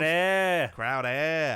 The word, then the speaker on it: Crowder: And we also have a guy who it's pronounced Crowder. Crowder for Jamison Crowder.